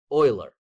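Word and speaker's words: Euler: His last name was spelled like this. Oiler.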